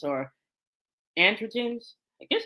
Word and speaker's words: androgens: okay and so when you have those andr andrens or androgens I guess it's yeah okay androgens y'all know me sometimes I mispronounce things but when you have that increased